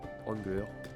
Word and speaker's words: angler: Donc autant commencer les quêtes du angler, angler, comme on prononce en anglais.